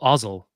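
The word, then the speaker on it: Ozzel: say it again Admiral ozel ozel rhymes with nozzle there you go rhes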